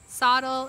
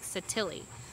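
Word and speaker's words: Sottile: The first one was Mike Sottil. His actual last name pronunciation is Mike Sottili. So it is the Italian pronunciation.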